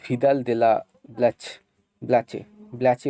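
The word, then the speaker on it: Vidal de la Blache: French জিওগ্রাফার, ফরাসি জিওগ্রাফার ভূগোলবিদ ভিদাল দে লা ব্ল্যাচে উচ্চারণটা হবে, তো ভিদাল দে লা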